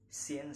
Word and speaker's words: scene: It's usually silent after the letter S. For example, consist, scene, scenario, and science.